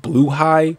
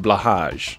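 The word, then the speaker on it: Blåhaj: the Ikea shark and I just learned it's actually pronounced blue high I'm going to keep calling it blahaj you can buy 3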